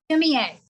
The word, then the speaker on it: sumi-e: Sumi-e.